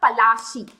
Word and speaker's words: Palashi: plus a is okay is nothing but an anglicized pronunciation of palashi the term or the area where the battle was fought was called palashi but englishmen cannot cannot pronounce palashina they have an accent so they instead of palashi they said and we also learn it as the battle of clase right so palashi the